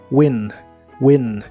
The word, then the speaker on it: win: de inglés es Win se pronuncia como se escribe solo que la i es corta y explosiva win win en el presente lo